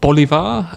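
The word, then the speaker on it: Bolívar: And I have have heard a story um which is that Bolivar uh could you pronounce that better for me? By Simon Bolivar.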